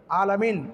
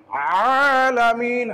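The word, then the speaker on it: العالمين: আমাদেরকে খেয়াল করতে হবে যে কি পড়তেছি আমি আলামিন আলামিন আলামিন আলামিন আলামিন আলামিন এটা হচ্ছে ভুল সঠিকটা কি আলামিন আইন কণ্ঠনাকে চাপ দিয়ে আলোকের মধ্যংশ থেকে উচ্চারণ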